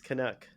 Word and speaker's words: Canuck: It's Canuck.